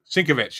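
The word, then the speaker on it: Sienkiewicz: I can never pronounce his name either. Bill. Oh, Sinkovich? Sinkovich.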